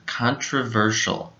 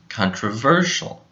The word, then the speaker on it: controversial: go in this word the stress goes on the third syllable ver so this syllable is a little bit louder controversial controversial now let's move on